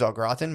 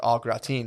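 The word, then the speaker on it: au gratin: I think it's potatoes a graten, but I used to call it potatoes alatine because it was a foreign word, so I had to like pronounce everything.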